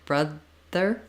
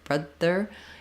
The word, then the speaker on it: brother: to make sure that if the air stops and gets blocked brother brother it's gonna sound too close to your D sound in a word like broader so you want to